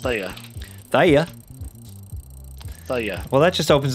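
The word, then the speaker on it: Thaye: funny funny fact yeah it's pronounced Thea th well that just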